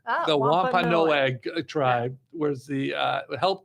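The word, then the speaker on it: Wampanoag: I was hoping she knew how to pronounce it so I didn't have to. But it's Wampa Noag. The Wampa Noag tribe was the uh helped the pilgrims survive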